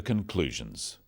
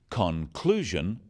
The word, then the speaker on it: conclusion: In words, one syllable is stressed. The wrong stress makes it hard to understand. So, conclusion, not conclusion. Products, not products.